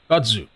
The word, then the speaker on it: kudzu: Kudzu is pronounced like a cow chewing. It's kud. Kudzu.